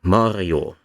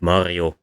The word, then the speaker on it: Mario: For example, the female name Maria is this way, but the male name Mario is not.